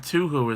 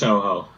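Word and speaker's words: Touhou: I thought people, because I know some people pronounce it Tuhu as well. No, it's pronounced Toho.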